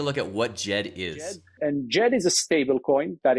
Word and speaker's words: Djed: Just in terms of terminology, Djed, and that's the proper way to pronounce it. Djed, the DSL, comes from ancient Egyptian as a sign of stability.